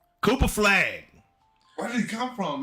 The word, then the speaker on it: Flagg: Last name rhymes with Flagg. That is his last name. Got 2 G's though. Cooper Flagg.